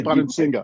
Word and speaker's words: Bonansinga: right it's your favorite writer of mine Jay Bon singga did I pronounced that right J I forgot to ask yeah you did J Bon Singa okay now when did you drop the r